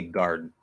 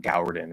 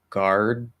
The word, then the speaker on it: guard: That would be the same, even though it's spelled with a U in there, it's pronounced as the same as the first syllable in garden. It's exactly the same pronunciation. It's not Gowden or something, or Goward or something like that.